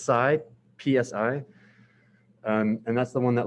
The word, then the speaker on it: psi: looking at oh side i was using is pronounced psy psi and that's the one that looks like this